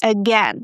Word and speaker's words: again: We start with the schwa sound. The schwa sound is a this very short uh sound in English. Uh uh, you don't have to do anything for it. You just open your mouth just a little bit and you say uh uh again.